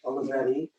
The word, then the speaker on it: Olivetti: How do you pronounce it? Olivetti.